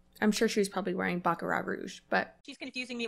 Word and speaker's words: Baccarat: I want to be you don't pronounce the T in baccarat I'm sure she's probably wearing baccarat Rouge but she's confusing